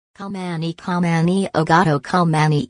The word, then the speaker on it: Khao Manee: Rijam o gato Khao Manee, pronuncia se Khao Manee e uma raza rara de gato de Thailandia que nos faz regressar centenas de anos atrás.